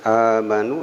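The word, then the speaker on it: آمَنُوا: Kemudian amanu, ya, bukan amanu tapi amanu, ini ada patah berdiri sehingga dua harakat panjangnya amanu.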